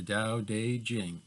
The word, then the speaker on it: Tao Te Ching: second reading is the Dao de Jing and it's spelt Tao Te Ching I don't know why they spell it with a T if it's pronounced like a D but that it's the